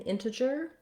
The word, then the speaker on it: integer: reduced vowel and then the g in integer is a j sound um we also spell